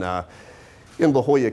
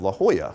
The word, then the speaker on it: La Jolla: about the pronunciation of La Jolla. Now, for those, the J is silent. I was trying to explain that. But this young whippersnapper right out of school was like, no, Johnathan, it's La Jolla.